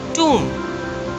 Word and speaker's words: tomb: Next on the list is tomb. T-O-M-B. B is silent.